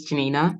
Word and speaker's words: Janinah: obviously my name is Janina in case you wondering how to pronounce it it is a Polish name I am not polish